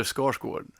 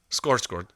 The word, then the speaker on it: Skarsgård: No, because it's the little weird umlaut on the second A is an O, and it's a tricky sound.